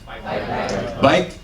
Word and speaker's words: baik: Baik. The K is not pronounced, it's a glottal.